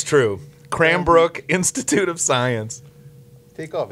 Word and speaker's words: Cranbrook: I've been saying it wrong all week. Cram brute. What are you, Yes. Canadian? Cram brute. Yes, I am. Groot. It's true. Cranbrook Institute of Science.